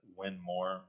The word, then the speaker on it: Winmore: I don't know why their tagline hasn't always been "Win more with Winmore," because it's so easy and it tells everybody how to say it.